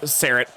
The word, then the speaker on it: Sarat: Sarat, there's no H.